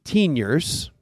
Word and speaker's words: Teeniors: i guess but you started a company called teeniors am i pronouncing it right yes sir tell me how